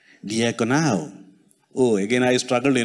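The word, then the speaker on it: διακονέω: And then I saw the real meaning, and the real pronunciation is diakonao, which means a servant or a deacon.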